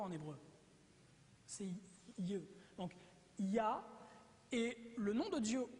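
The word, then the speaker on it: יה: Et la translittération, les 2 premières parties YH se prononcent Yah.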